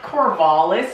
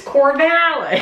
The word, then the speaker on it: Corvallis: It's not Corvallis, it's Corvallis. Corvallis, say it like you're from the fucking South.